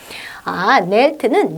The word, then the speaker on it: knelt: kneel, knelt 해도 되고 kneel, knelt 해도 되고 그리고 K는 발음 나지 않고요. silent 사운드죠.